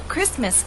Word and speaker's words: Christmas: You know, Christmas is one of those words in English that is written with the T, but we don't pronounce it.